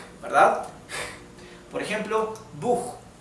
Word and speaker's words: Buch: La CH en alemán se pronuncia como una J del español, o parecido a una J, ¿verdad? Por ejemplo, Buch, Buch, que significa libro, que se escribe así.